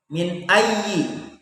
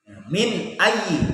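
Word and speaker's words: مِنْ أَيِّ: sudah saya sebutkan barusan, maka hukum bacaannya adalah jelas, ya, dibaca dengan jelas, yaitu tanpa dengung, ya, tanpa mendengung kita membacanya. Contohnya, ya, contoh nun mati bertemu dengan hamzah. Contohnya min ayyi, min ayyi.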